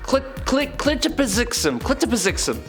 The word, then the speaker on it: Mxyzptlk: Clitopizixum.